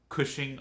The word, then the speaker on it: Cushing: the zip is 74023 Cushing Oklahoma rhymes with gushing and that's not too